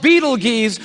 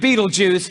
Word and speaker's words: Betelgeuse: heard about this star it's called beetle G's or Beetle Juice you can pick your pronunciation I'm obviously going with Betelgeuse and Betelgeuse is incredible